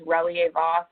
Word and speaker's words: Relyea-Voss: So, as she said, the pronunciation of my last name is Reier Vos.